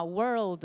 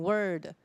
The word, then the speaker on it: world: 那因为 world 比较不好发，很多同学会把 world 念成 word，好，所以这个要注意一下。